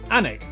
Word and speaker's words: Alnwick: Alnwick, which is near Newcastle.